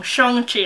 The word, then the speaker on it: Shang-Chi: Shang-Chi, I'm trying to keep remembering to say it properly.